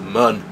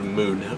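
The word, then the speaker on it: Mun: We may even be able to get out past the moon, or moon, or however you decide to pronounce the U in M-U-N.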